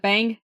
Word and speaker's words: Bang: Is it Bang? Average Bang. Football? Okay. Yes. Making sure it wasn't pronounced Bong.